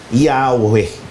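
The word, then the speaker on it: Yahweh: Ito nga ho 'yung ah Y H o sa bigkas o sa wikang hebreo yod, hey vav, he o pag pinagsama yung pinaniniwalaang wastong pagbigkas nito ay Yahwe.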